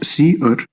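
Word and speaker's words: cerr: outputs then we have c e r r pronounced as c r which is the standard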